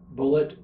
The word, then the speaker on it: Bulleit: my great-grandfather John Joseph anglicized the name to Bullet without changing the spelling so now we both